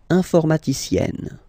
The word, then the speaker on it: informaticienne: And you get the sound informaticienne, sienne. Remember E and then double N, or then it could be double L or double consonant here. You open your E, so it's E.